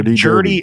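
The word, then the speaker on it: Jerdy: And so Jody, and this is not me mispronouncing it.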